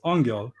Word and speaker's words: Angyal: Angel it's uh the pronunciation it's a Hungarian one it's Angel and it means angel unfortunately this is the